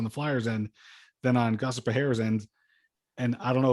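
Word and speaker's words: Gostisbehere: No, it's very easy to say. It's Shayne. Look, repeat after me. Ready? Shayne Gostersbrehere.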